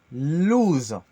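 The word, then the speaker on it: l-louz: J'écris L et loose parce que ça se dit loose. Il y a 2 L qui sont un peu mixés. Loose. On dit Loose. loose, mais il y a un L, un premier L et loose.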